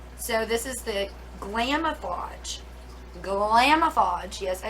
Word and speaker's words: Glamoflauge: to cover tattoos so this is the glamoflauge glamofodge yes i said it right um heavy duty